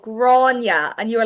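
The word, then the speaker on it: Gráinne: Oh, this all started because there was a girl called Grania, and you were like, is her name Granny? Yes. Grania, spelled Grainne. Grania. Technically, it's G or A Fada Inne.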